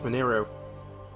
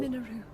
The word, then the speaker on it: Mineru: Oh, look, it's Mineru. It's her soul. Minoru, I'm counting on you. I keep pronouncing her name wrong.